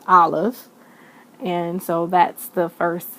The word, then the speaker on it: Aleph: So the first letter of the Hebrew alphabet, which is Aleph, it's pronounced Aleph.